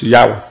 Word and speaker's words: Yahweh: Algunos eruditos concuerdan que la pronunciación aproximada al original es Yahweh.